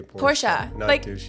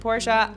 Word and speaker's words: Porsche: into it to make it cool to say Porsche and if you're yes drivers don't really know